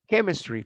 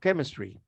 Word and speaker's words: chemistry: character character character okay this ch is pronounced like k and the same happens with chemistry for example chemistry you know chemistry ch